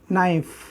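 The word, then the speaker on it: knife: फिर ये लिखेंगे ऑब्जेक्ट एन एप्पल, और दोस्तों आप लगाएंगे ये से की विद, और फिर नाइफ। चाकू को नाइफ बोलते हैं दोस्तों, के साइलेंट होता है इसमें।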